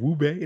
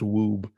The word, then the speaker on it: Wube: Is it Wube? No, there's no accent. That's Woob.